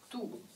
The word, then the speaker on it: tous: 的发音是 do， s ça se prononce pas， s 不发音。